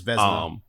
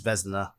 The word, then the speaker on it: Vesna: Yeah, it's Vesna. Yeah, say it again. So a lot of people who don't know how to pronounce it, they just call her, but the pronunciation is Vesna.